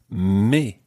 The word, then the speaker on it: mes: and the plural is me me and it ends in an S so normally the S is silent but when it's followed by a vowel it becomes in this case try